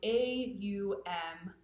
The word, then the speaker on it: Aum: been taught is that Om is really a sound A-U-M, Aum. So it's like a diphthong sort of thing.